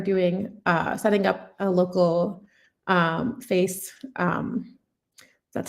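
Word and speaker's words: FAISS: And so here I'm doing, setting up a local face, that's how you pronounce it, vector database.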